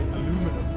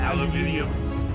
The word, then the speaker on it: aluminium: Oh, now I work in manufacturing, so every time I say aluminum, that scares the daylights out of me. Instead of aluminium. Yeah. Aluminium. Yes. I'm glad you learned how to pronounce it properly. It's good. It shortens. It takes a couple syllables off.